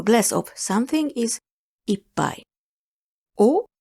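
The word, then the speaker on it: を: O with the wo is a particle that indicates the object of a sentence. The pronunciation is o.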